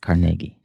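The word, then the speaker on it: Carnegie: Uh Andrew Carnegi and I pronounced it the correct way, Carnegi.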